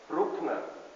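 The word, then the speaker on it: Bruckner: heard of Antonio Anton we say Brookner he is a classical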